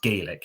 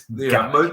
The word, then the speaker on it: Gaelic: And I say Gaelic because that's how they would say it. They wouldn't say it like the Irish say it, Gaelic. It's Gaelic.